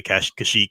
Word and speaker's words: Kashyyyk: and fandom or something I think most people agree to say cash Kashyyyk now though anyway I always think of chic so sorry if you